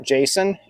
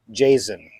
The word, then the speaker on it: Jasion: It's not Jason. It's that, pretend the S is a Z. Jasion.